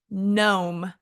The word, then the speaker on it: gnome: silent k like knife or even silent G like gnome g n o m